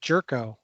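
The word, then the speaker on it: Gyorko: bench player and he's got a great name g yorko which is pronounced jerko yeah you gotta love that yeah uh mitch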